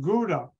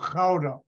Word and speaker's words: Gouda: part of Unilever and it was headquartered in Gouda that's not the way it's pronounced it's fatigue a town where the cheese is from and it's called Crowder and I would stay in the hay which